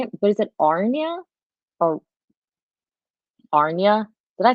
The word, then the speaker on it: Aryna: for you, or they say what the correct pronunciation is, but I couldn't find it. So I just Is that Aryna or Aryna? Aryna.